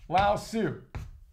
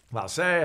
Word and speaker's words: Lao Tzu: On the other, we have Lao Tzu. Lao Tse, however you want to pronounce it, right?